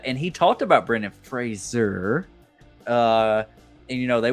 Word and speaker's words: Fraser: so easy go ahead man just want to say it's Fraser not Frasier did I say Frasier yeah literally just did